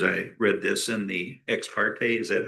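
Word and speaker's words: ex parte: Question arose in my mind as I read this in the exparte.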